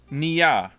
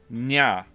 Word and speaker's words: Nia: You're saying Nia. Just say Nia. Drop the E sound. So I'm saying Nia, and you don't want me to drop the E, so it's just Nya. Yes? That's 2 syllables. It's N and Ya.